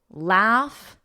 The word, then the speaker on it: laugh: Laugh, with that F, laugh, laugh.